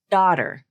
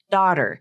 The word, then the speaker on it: daughter: use this symbol um it's like a backwards c letter so but then there's an asteris asterisk next to it and you look down here and I have another symbol that says Ah is more common so again the actress